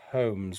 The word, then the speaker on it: Combs: I'm gonna go with Luke Combs because like a hair comb is spelled C-O-M-B, so it's just an S on the end. So I'm going with Luke Combs.